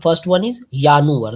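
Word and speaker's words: Januar: to repeat with me the first one इज यानुअर the sound of जे इज़ यट वाई सो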